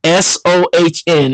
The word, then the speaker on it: Sohn: Like, for example, there's a cat named Son, not John, but his name is Son, Sohn. It's spelled like my name, but with an S.